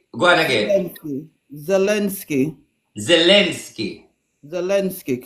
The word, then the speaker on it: Zelensky: You pronounce the V? Z. You said it. You said it. Go on again. Zelensky. Zelensky. Zelensky, correct. The president of Ukraine, Zelensky, will resign and Ukraine will go to NATO.